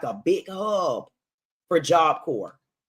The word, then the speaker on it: Job Corps: So I knew Kentucky was going to be like a big hub for Job Corps. It's actually Job Corp, but I say either Job Co or I say Job Corps.